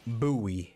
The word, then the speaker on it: Bowie: Bay Sox first pitch coming your way next Bowie is how they pronounce anytime you have five pitches to work